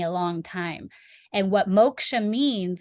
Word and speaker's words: Moksha: And how do you pronounce your practice? Because I don't want to say it wrong. Oh, sure. It's Moksha Natural Wellness.